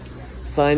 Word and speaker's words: sine: i chose sine because sine is a trigonometric function that rhymes with pine it means a lot